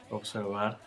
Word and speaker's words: observar: It's even when that badaga is at the end of a syllable, it still sounds like a fricative. So the verb to observe. Observar.